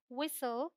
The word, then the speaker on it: whistle: The rule says T is silent before L.